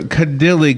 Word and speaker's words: Kadile: Kadile, good morning, doctor. Good morning, Larry. You pronounced my name correctly.